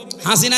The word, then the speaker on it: হাসানা: লক্ষ লক্ষ মানুষকে দেখলাম কাবা শরীফে, এই রুকনে আমিনি থেকে হজরে আসওয়াদ এটা পার হওয়ার সময় এই নামটা উচ্চারণ হচ্ছে, হাসিনা না হাসানা।